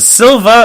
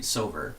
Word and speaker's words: Silver: Was it Silva or Silver?